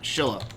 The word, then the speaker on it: Silla: what's going on with Shilla and I always want to put an H in there because you pronounce it with an H but there's no h in the word uh Shilla so flag